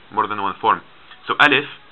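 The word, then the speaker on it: ا: just a straight line alif and alif it makes the sound it's like the letter a in latin it makes this sound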